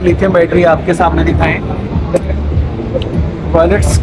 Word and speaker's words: Vaults: Battery आपके सामने दिखाएं, वॉल्ट्स के VAULTS वोल्टस, इसका सही प्रोनाउंस है वॉल्ट्स।